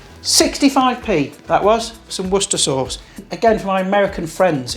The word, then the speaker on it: Worcestershire sauce: Yeah, 65p that was, for some Worcester sauce. Again, for my American friends, it's pronounced Worcester sauce, not Worcestershire sauce or wash your sister sauce, all right?